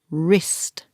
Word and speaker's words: wrist: hand connect what's that wrist careful it's spelled with a W but the first sound is her wrist he went skiing and